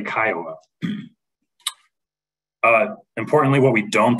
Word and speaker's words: CCIOA: me your homeowners association that is pronounced or excuse me abbreviated Kiowa ccioa um and in this presentation that is uh what we'll be referring to when we say kyowa uh importantly what we